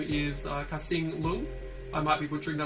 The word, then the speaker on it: Kasing Lung: He made a book called The Monsters, and then his name is Kasing Lung.